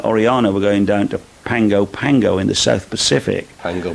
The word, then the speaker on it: Pago Pago: I'm going, when we go on the Oriana, we're going down to Pango Pango in the South Pacific. Pango Pango. Yes, it's pronounced Pango Pango, but it's spelt Pago Pago.